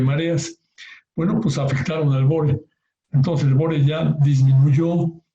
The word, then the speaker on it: bore: Bueno, se pronuncia bore, en inglés es bore.